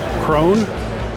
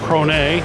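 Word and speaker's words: Krone: Cone or Cron depending on how you want to pronounce it.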